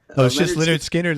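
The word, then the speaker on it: Lynyrd Skynyrd: working together in the band how do you pronounce his band lint Leonard Leonard Leonard Skynyrd like Leonard Steen Leonard skinhead okay skin hide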